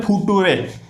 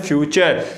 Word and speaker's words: future: अब जो है ना इसको बहुत से लोग क्या बोलते हैं, फुटुरे, ठीक है ना। क्या बोलते हैं इसको, क्या पढ़ते हैं, FU और REA, फुटुरे। लेकिन ये फुटुरे नहीं है, ये है फ्यूचर, क्योंकि यहाँ पर TU को हम क्या बोलेंगे, श, ठीक है।